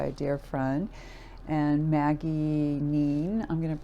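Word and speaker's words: Kneen: And Maggie Neen, I'm going to pronounce her name, I think it's a silent K there at the beginning, is the creator of this one.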